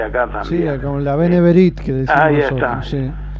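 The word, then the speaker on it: B'nai B'rith: Sí, con la Beneberit que decimos. ¿Cómo se pronuncia? Benebit. Acá, acá le decimos Beneberit. Sí. Ah, bueno. Beneverit. Ahí está.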